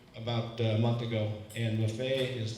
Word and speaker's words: Maffei: My last name is Maffei. That's the Italian pronunciation.